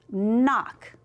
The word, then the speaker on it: knock: So it just is knock.